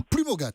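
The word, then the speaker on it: Plumaugat: Et je vous souhaite une bonne journée dans les Côtes d'Armor, à Plumogat, puisque le T se prononce.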